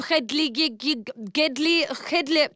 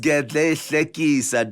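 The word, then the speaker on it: Gedleyihlekisa: Leader, Commander-in-Chief of the Armed Forces, President Jacob Gedley. Oh, market. Jacob Zuma. It's pronounced Gedle Hlekisa, Deborah.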